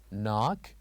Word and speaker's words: knock: And here we have number 6, knock, where K is silent.